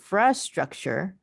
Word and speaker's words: structure: I'll say structure so that I can emphasize the syllable stress right here.